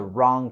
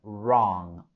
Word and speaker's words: wrong: La letra W es muda en la palabra wrong, wrong. Solo lo pronunciamos desde el sonido r, r, wrong.